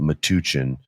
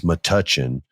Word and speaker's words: Metuchen: showcase it's in mudachin I can never say it right I want to call it matuchin it's Metuchen sometimes I'll say matuchin